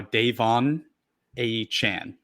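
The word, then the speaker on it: De'Von Achane: I love it so not only did he change the pronunciation of his last name he changed it of his first name so you got that wrong too it's it's now Dave on a Chan yeah exactly um but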